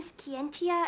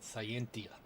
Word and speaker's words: Scientia: Is that why you're having Skiientia investigate the Milian conflict? Okay. It's pronounced. All right. Not Scientia.